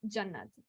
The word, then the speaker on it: Jannah: fun fact about me my name is actually not pronounced yeah it's pronounced Jannah but I just adjust my name to make it easier to say and that's okay which